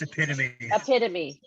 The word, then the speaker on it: epitome: It's epitome.